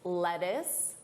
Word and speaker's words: lettuce: This is of course lettuce. Lettuce. Notice that unstressed pronunciation.